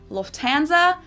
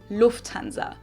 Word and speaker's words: Lufthansa: In English, people usually say Lufthansa, but in German, we say Lufthansa. So the emphasis is on the first syllable, Lufthansa versus Lufthansa.